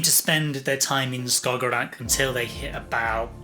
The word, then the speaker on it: Skagerrak: That's an area which I think is pronounced Skagerrak, Skagerrak. Skagerrak Which is the area, you know, that bit you're kind of map between sort of Norway, uh Denmark and Sweden.